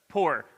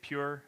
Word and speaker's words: Pur: But yes, it was the Pur, which is pronounced Pur, but it's P-U-R, so some say pure, or the Feast of Purim.